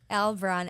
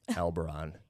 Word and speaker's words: Albarran: Albarran. Every time someone sees my last name, they're like, how do you say it? Albarran.